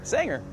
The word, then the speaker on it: Sanger: Noel Sanger? Is it Sanger? Sanger. Sanger. Sanger. All right. Is that a southern pronunciation or?